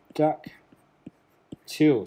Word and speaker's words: Pteroducktyl: be a bit better duck till so the peas is silent that's why you can't